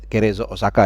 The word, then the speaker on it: Cerezo Osaka: Dan juga tentunya penampilan Justin Hubner bersama The Sakura atau Cerezo Osaka. Ini kalau bacanya cepat jadi kayak Crazy Osaka ya. Jadi Cerezo Osaka ya, gua tahu bacanya seperti itu.